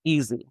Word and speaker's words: Eze: It's actually pronounced Eze. It means God in Nigeria.